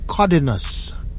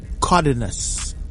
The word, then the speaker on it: Cardenas: And I will place the pedigree of Cardenas Crazy, or as Schoolboy Garcia says it the correct way, Cardenas Crazy. Cardenas. That is the way that you're supposed to pronounce that name, but we in America,